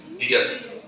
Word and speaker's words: Bier: Bayer కాదు, Beer. Boys bar తెలుస్తుంది. Beer. వాడు ఆ బియర్ సౌండ్ వస్తారు. Although it is spelling is BIER, it is pronounced as beer.